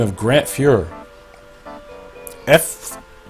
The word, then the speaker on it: Fuhr: Fuhr. I didn't say Führer, okay, not like Nazis, I said Fuhr, if I even pronounced that correctly.